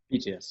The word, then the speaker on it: Thetius: Do I pronounce it correctly? Is it Thetius? Thetius, yep.